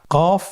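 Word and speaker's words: قاف: কফ উচ্চারণের ক্ষেত্রে একটু মোটা করে উচ্চারণ করতে হবে।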